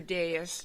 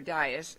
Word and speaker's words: dais: when you go to your dais today, or dais, it's actually pronounced two different ways, our moral imperative that